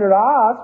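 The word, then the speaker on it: rasa: produce Russa you understand and Ras with a long a in Sanskrit means how that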